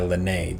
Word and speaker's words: Lene: And last but not least, this dude, he goes by Lene. That's how you pronounce it, just so you know.